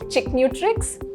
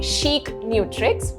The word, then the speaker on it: Chicnutrix: uh but it's actually Chic nutrix which means your nutritions also got to be Chic right now why do